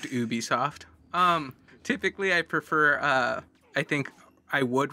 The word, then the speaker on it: Ubisoft: I think technically pronounced Ubisoft.